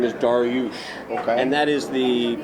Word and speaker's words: Darioush: gentleman that I work for his name is darush and that is the pronunciation uh and and it's slightly spelled differently